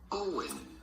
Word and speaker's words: Eoin: go about pronouncing it not like it's spelled but simply owen ian owen ian e